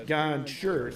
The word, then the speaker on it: Gonchar: Archibald prior to the game, and I even wrote it on my sheet as Gonchar, so I would remember to pronounce it correctly.